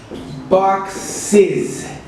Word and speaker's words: boxes: To make it plural, we have ES, and the correct pronunciation is boxes.